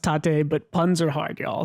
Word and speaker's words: tate: And the editor's note is, I know it's pronounced tate, but puns are hard, y'all.